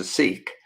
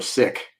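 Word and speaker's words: Sikh: Consciousness if you will who's a seik or a sick as it should be pronounced he called me Zen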